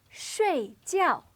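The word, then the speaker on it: 睡觉: this word is pronounced Shh gel it means to sleep both of these syllables have a fourth or falling tone Sri GL now take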